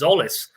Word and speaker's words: Tzolis: I asked you this earlier today, and you said you sent me a link, and it was Tzolis. Basically, you dropped the T.